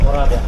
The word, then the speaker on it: Oradea: Oradea. Oradea.